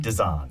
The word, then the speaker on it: Desan: Desan.